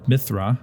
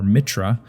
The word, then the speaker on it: Mithra: The Zoroastrian god Mithra, or Mitra, depending on how you pronounce it, was the god of light.